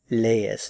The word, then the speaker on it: lees: Lees. Notice that these are two separate syllables, so you have to pronounce each one in a separate syllable. Lees, lees.